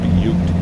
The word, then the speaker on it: Butte: That's right, Butte. I know what you want to say, but that's not how they say it. Well, that's not how they correctly say it.